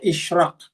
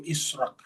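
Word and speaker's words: Ishraq: Israq bacanya ini bacanya isyraq karena ini adalah bahasa Inggris. Kalau kita baca dalam versi bahasa Indonesia bukan bahasa Inggris ya tentu israk.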